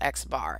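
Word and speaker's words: x̄: If I say, x bar, see that x without line above it, that's pronounced x bar, and you'll see I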